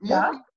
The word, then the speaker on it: Maurice: Nee, also geschrieben wird es Maurice, also M-A-U und Maurice ausgesprochen.